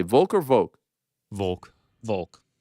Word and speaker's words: Volk: What do you guys say, Volk or Volk? Volk. Volk. But it's folk. Yoke. Yeah, but but it's coming from Volkanovski.